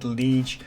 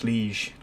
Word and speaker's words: Liège: I believe you go to a lower pitch, so it's Liège, like that.